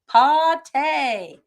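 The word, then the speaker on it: pâté: So our code word for this week to get an extra ticket in the cash pig is pate.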